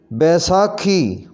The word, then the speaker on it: بیساکھی: پنساری، پنساری، پنساری۔ بیساکھی، اس کا صحیح تلفظ ہوگا بیساکھی، بیساکھی۔ بلند، بلندی، صحیح پڑھیں